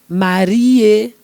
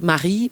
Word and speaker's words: Marie: Marie, not Marie, but Marie, comment tu vas?